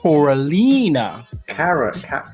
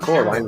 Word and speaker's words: Coralina: It's pronounced Coralina. Thanks, Hannibal. He's saying Cora. It's not Coraline.